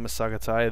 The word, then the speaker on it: Massagetae: then somebody over here now if you're wondering why I'm pronouncing it masaai that is how the game intro it so I'm just sticking with the intro and as you can